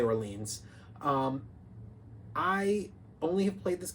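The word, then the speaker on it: Orléans: Number 6, Orleans. So, or Orleans, depending on how you say it. I say Orleans.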